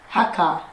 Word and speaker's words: Hakka: Hakka. Hakka. Hakka. Yeah, oh, nice pronunciation.